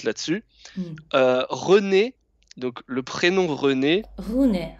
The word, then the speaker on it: René: René donc le prénom René ré r c'est le même e que dans petit c'est pas René Renet Renet ou comme comme